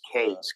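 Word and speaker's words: Qais: His name is Kays, Q-A-I-S, I guess is how you spell it.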